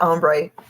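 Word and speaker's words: ombré: it's blueberries ombre okay that's how you say it ombre yeah I can never remember and like umber is not right um J jie were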